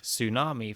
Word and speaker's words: tsunami: even more silent letters think of tsunami from japanese with the silent t or pneumonia from ancient greek with a silent p this is because ts